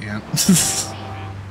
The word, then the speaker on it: aunt: the language so uh how do you pronounce your parents sister Aunt okay you do want I I tend to say ant that's just Southern uh I don't know Theology of it my Aunt May no cuz I